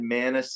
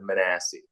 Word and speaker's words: Manasse: did you were close you said manac instead of manasse manol it's a little the the the wrong emphasis you know well exactly